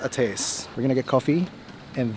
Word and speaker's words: Ates: check out eight or ate or eight it's pronounced a taste we're gonna get coffee and then yeah we're